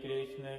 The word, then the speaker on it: कृष्ण: इसीलिए कहें कृष्ण है, कृष्ण है। कृष्णा नहीं, कृष्णा द्रौपदी का नाम है, क्योंकि वह अग्नि से उत्पन्न हुई थी और वह भी सांवली थी। इसीलिए शुद्ध उच्चारण है कृष्ण है।